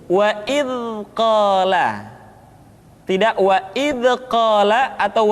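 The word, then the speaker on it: إذ قال: Contohnya wa id qala, atau kesalahan kedua wa id qala. Yang tepat adalah suara dialirkan dengan lembut. Wa idh qala, tidak wa idh qala atau wa idh qala.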